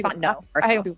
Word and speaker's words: Fontenot: I know it's Fontenot. I hate when people mispronounce that.